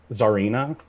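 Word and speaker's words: czarina: for a russian empress like nicholas ii sam zarina that is correct for three points you are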